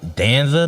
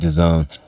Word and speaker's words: DAZN: It's all on Danza now, I think. DAZN. DAZN. That's how it's pronounced. I know it's spelled Danzin, but it's pronounced That's DAZN.